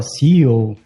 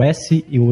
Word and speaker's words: SEO: Fala CEO. Então, vale a pena frisar aqui que é a pronúncia das letras separadamente em inglês, né? Que é o S, e o E e o O.